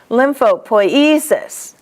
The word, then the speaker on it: lymphopoiesis: The accent's going to be always on E. Lymphopoiesis.